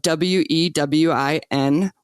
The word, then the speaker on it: WEWIN: And the pronunciation for the Women Empowering Women for Indian Nations is "We Win."